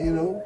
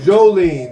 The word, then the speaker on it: Jolene: She French, y'all. Jolene. I want y'all to say, when you meet her, say it right, Jolene. Your sister-in-law is Joe. Right, Jolene. Don't get that confused, Jolene. Is Jolene. You're not French.